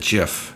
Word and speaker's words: GIF: also i should mention he always pronounces it jif which i don't really